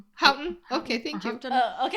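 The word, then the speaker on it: Houghton: Hen Mifflin. Uh, who wore white gloves. Hton Mifflin. Oh, it's Hton. Hton.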